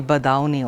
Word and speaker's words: Badayuni: romantic poet, Geetkar-e-Azam, Shakil Badayuni. He was born Shakil Ahmad Qadiri on August 3rd, 1916 in Badaun, which is in UP. His name, some people pronounce it as Shakil Badauni also.